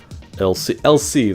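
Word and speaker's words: l'Cie: LC, that's how you say it, the LC.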